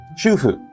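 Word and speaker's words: 主婦: But if you mispronounce it and instead of saying shufu, you say shofu, sounds nearly similar. It's just a small difference, right? No, not shofu. Shufu. Shufu means housewife. Yeah. And then I thought it was shofu. That's it. Shofu means prostitute.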